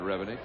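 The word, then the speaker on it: Revenig: It's Todd Revennick.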